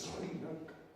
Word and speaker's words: Sri Lanka: isla que nos da por pronunciarla como vemos la S y la R juntas y nos esforzamos todos, es Sri Lanka.